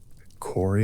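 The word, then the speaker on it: Kore: Corey is there among the nymphs. Core, the name that means simply maiden or girl, a name that carries in its two syllables the whole weight of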